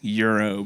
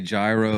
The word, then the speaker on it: gyro: the simple fact that you pronounced that Euro and said saiki properly gives you Kudos you didn't say gyro you didn't say gyro